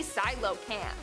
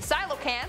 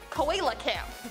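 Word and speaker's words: coelacanth: our number one spot today we have the silo cam the silo can't which is spelled nothing like it's pronounced i thought it would be like koala camp but no i guess not anyways these dudes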